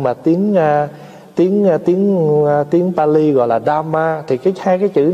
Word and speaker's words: Dhamma: Tại vì tiếng Việt đọc là pháp, nhưng mà tiếng Pali gọi là Dhamma.